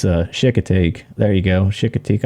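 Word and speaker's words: Chincoteague: in the comments below this is off Shikha teak island or if you're from down south it's called shakey tank chick tank in this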